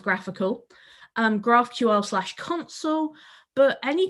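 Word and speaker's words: GraphiQL: find what's called graphical so that's graph i ql pronounced graphical um graphql console but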